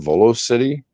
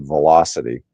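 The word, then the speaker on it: VoloCity: Zea Aro zero volocopter Volo City yeah cool well I I pronounced a Volo I'm sure they pronounce it velocity but um still that's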